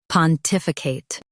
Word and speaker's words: pontificate: In US, stress tif. In UK, stress tif and soften I.